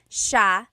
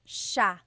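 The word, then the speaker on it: siya: about and then just a note about pronunciation it's Sha Sha the SI iy combination makes the Sha sound in the some regions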